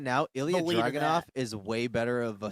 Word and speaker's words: Ilya Dragunov: Ilya Dragunov? Yeah. That's literally how you do it. Ilya Dragunov. That's literally how you pronounce it in Russian, bro.